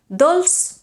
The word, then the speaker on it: dolç: Dolç is pronounced with an S, whereas dolç i salat is pronounced with a Z.